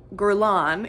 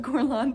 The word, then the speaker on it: Guerlain: is that guy laren this g brand gurlan yes that's how you say it it's called gorlon paris um and it's their